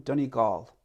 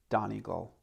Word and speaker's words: Donegal: better understanding of them dhoni gaul a lot of north americans say don eagle dunnigal comes from the irish word duna fortress of the foreigners so here i come